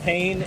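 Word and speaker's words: Payne: Is Mount Pain a location or command? It's both. Both, actually. Kid named Pain. Well, it's spelled P-A-Y-N-E. I realized that after I said it.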